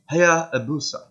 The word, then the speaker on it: Hayabusa: So it'll be Hayabusa, I think, because they don't really. The consonants in Japanese, right, are really soft. So instead of like boo, it's boo, boo. Almost like you're blowing air out like a hoo sound.